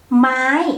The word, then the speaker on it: ไม้: The word mai, the tone is in the middle but a little bit down because ma itself is the low class. So when you pronounce it, you have to turn it low.